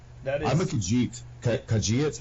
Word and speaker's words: Khajiit: I'm a Khajiit. Khajiit? How do you say it? Khajiit? Khajiit, yeah.